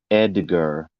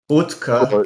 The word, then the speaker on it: Oetker: table because we thought Edgar, EDGAR, not Oetker. Oh, I don't know how to say it in the English way. Utka.